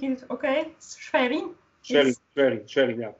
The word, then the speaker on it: Schwerin: Schwerin. Schwerin. Yeah, pronounce.